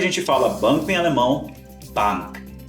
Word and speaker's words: Bank: fala banco em alemão Bank não Confundi com a pronuncia do inglês que é Bank beleza pessoal e caso